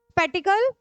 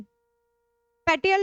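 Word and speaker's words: spatial: Then geographical area और स्पैटिकल नहीं स्पेटियल data. ये स्पेस के लिए है।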